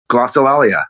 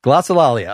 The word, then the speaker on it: glossolalia: I quit from your new solo album you pronounced the name of it glossolalia glossolalia all right 2024 it's so easy to say